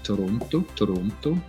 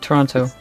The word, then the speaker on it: Toronto: And with Swiss Germans, we say Toronto. I pronounce the T, Toronto.